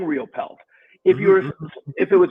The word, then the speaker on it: Riopel: a famous uh artist with the last name real pel but if you look into history and you look at it real pell is spelled r-i-o-p-e-l like my name or there is